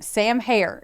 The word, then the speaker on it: Herr: The first one, Sam Herr, and it's pronounced like hair on your head, was born in 1984 and raised in Long Beach, California area.